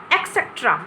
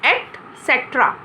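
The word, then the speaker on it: et cetera: और इसका प्रोनाउंसिएशन हम क्या करते हैं, हम इसको जनरल नॉर्मल बोलते हैं एक्सेट्रा. एक्सेट्रा, लेकिन बच्चों इसका प्रोनाउंसिएशन एक्सेट्रा नहीं होता है, इसका प्रोनाउंसिएशन होता है एटसेट्रा. एटसेट्रा, इसमें ये कै नहीं होता है, इसमें एटसेट्रा होता है, जिसका मीनिंग होता है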